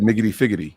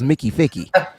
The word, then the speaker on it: Mickey Ficky: I thought you said Miggity Figgity. No, Miggy I Figgity. definitely don't add a bunch of extra syllables. It's Mickey Ficky.